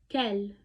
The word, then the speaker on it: quel: Next we have quel. Quel. It means which or what, but quel has 4 different spellings with the same pronunciation.